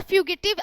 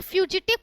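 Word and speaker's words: fugitive: फ्यूजिटिव और फ्यूगिटिव आप दोनों प्रोनाउंस कर सकते हो, यहाँ पे फ्यूजिटिव करेक्ट प्रोनाउंसिएशन होगा।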